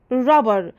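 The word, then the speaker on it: wrapper: قبل كده اللي بعده الرابر الرابر هنا حرف الدبليو لما بيجي بعده حرف الار الدبليو بيكون سايلنت ما بنطقه بقول الرابر رابر معناها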